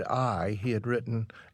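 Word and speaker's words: ail: every time he said I he had written a i l which means garlic in French pronounced I so that's how he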